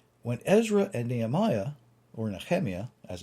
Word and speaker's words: Nehemiah: When Ezra and Nehemiah, or Nehemiah, as it's properly pronounced, when they got back after the Babylonian exile, they rededicated the temple.